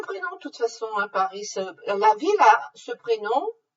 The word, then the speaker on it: Paris: De même, Paris, on dit Paris, mais vous avez le prénom Paris. Simplement, il s'écrit la même chose, mais on prononce le S.